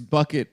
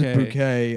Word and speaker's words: Bucket: Her last name is Bucket, but she pronounces she pronounces bouquet and then she's like ashamed of her white trash family.